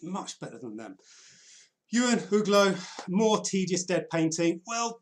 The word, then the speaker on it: Uglow: Uglow.